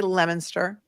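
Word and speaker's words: Leominster: I get a lot of flack for my pronunciation of Massachusetts towns but I have learned how to say lemonster I have learned how to say things like um puberty.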